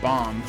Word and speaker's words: bomb: it's weird though so you might not pronounce the b at the end of bomb but if I pronounce